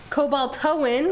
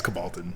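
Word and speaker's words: cobaltoan: cobaltoin. Oh, it's Is that how you say it? No, it's cobaltin. Oh, cobaltin. Someone asked earlier what it was, and I was like, cobaltin?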